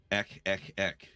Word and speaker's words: ECH: Just go on YouTube and look up Ek Ek Ek. It's spelled ECH.